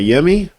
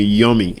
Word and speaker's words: Yemi: My name is Yemi. I go by Yemi. Some people still call me Yummy, and I'm like, yeah, I don't know what to I still get that.